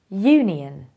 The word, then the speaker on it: union: it is a history another example is Union this is pronounced as Union so although it starts with a vowel it is a consonant sound therefore you have to say a union what is the difference